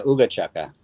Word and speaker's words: Ooga Chaka: regarding, dude, I never asked you, is it pronounced Ooga Chaka? Yeah, Ooga Chaka.